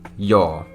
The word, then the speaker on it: joo: So yes, the actual way of saying it in Finnish would be joo.